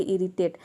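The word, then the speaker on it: irritate: कहीं पे इसे हम ई भी प्रोनाउंस कर देते हैं आई को, जैसे कि इरिटेट।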